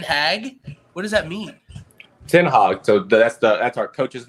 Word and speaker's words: Ten Hag: Ten Hag. So that's our coach's name. It's pronounce it Ten Hag.